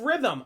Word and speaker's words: rhythm: Next up, we have rhythm. Again, another instance where the H is unnecessarily placed and doesn't need to be there because it's a silent letter.